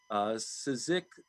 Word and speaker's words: Csikszentmihalyi: I think I'm going to do brain damage just trying to pronounce it. Mihaly, we'll say it starts with a C. I'm going to try. Csikszentmihalyi sent Mihaly, called flow.